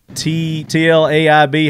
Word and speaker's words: Tlaib: Bipartisan blowback over TLAIB.